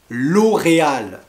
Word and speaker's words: L'Oréal: on a d'autres marques très connues par exemple l'oréal une marque vraiment mondial l'oréal l'oreal elle fait